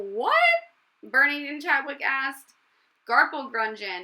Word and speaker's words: garplegrungen: Garpel grungeon. It rhymes with dungeon, said Dr.